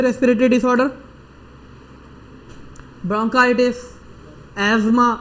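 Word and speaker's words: asthma: अब ये कौन सी रेस्पिरेटरी डिसऑर्डर, ब्रोंकाइटिस, एज्मा, अस्थमा नहीं होती प्रोनाउंसिएशन, एज्मा, ठीक है।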